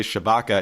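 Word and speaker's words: Tshibaka: republican in the race i believe her name is pronounced kelly chabaka is at 33.6 percent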